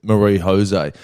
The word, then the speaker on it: Marie-José: By the way, I'd pronounce it Marie-José.